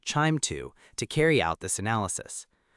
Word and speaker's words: QIIME 2: We often use QIIME 2, usually pronounced chime 2, to carry out this analysis.